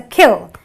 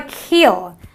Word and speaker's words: kill: It's a kill. It's not a keel.